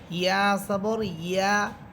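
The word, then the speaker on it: يَ: আর ইয়া হরফের উপরে জবর দিলেও হবে ইয়া সবর ইয়া ইয়া। যখন আপনি জিহ্বার মধ্যখান উপরে তালুর সাথে লাগাবেন তখন ইয়া হরফের আওয়াজটা অনেক সুন্দর হবে।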